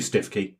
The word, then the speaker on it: Stiffkey: Well yeah you say that but I have heard the local pronunciation is stoooky and I will tell you why I think it could be true.